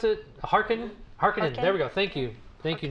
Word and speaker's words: Harkonnen: How do you pronounce it? Harkonnen.